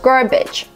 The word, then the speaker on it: garbage: pronouncing this word wrong there are three pronunciations for this word garbage garbage the second syllable is not stressed garbage for this syllable we have three pronunciations you can use the uh sound like cup and up garbage garbage the schwa